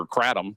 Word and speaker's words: kratom: And my concern is that's the actual concern of either kratom, which how you pronounce it, or kratom, how the rest of you pronounced it.